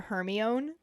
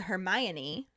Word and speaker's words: Hermione: and then he hears hermione trying to teach crum to properly say her name because he keeps calling her hermione and she breaks it down to hermione and this is literally the moment that i learned how to say her name properly luckily for me i